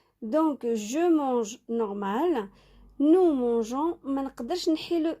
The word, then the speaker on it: mangeons: Donc, avec les verbes G, لازم تخلوا le G pour prononcer la lettre G. Nous mangeons, mais pas nous mangons.